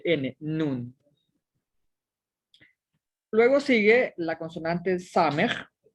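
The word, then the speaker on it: נוּן: Y aquí tengo una nun y una shuru y formo la sílaba nu. Y tengo una nun sofit al final que representa el sonido de N, nun.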